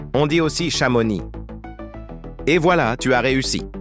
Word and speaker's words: Chamonix: Malheureusement, le nom de ces villes sont souvent mal prononcés. On dit aussi Chamonix.